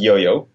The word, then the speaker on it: YouYou: The first name is pronounced Yo-Yo.